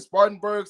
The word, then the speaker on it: Spartanburg: Spartanburg, South Carolina?